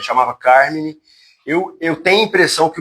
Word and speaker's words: Carmine: Carmine. É Carmine. Acho que todo mundo chama Carmen.